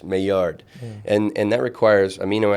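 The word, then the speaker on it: Maillard: it, you do the mayard process. Some people may call it the myard because that's the way it's spelled, but it's a French name. So it's mayard and and that requires amino acids, reducing sugars, and heat.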